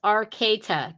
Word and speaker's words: Arcata: Oh, and Arcade, Little Lego was saying pronounce Arcata, California.